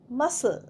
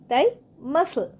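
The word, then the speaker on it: muscle: মাসল মাসলেও দেখো সি উচ্চারণ হচ্ছে না। তাই মাসল মাসল মানে পেশি।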